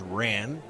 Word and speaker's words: wren: Wren is often pronounced as Ran, and this name alludes